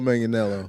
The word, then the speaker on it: Manganiello: Joe Manganiello.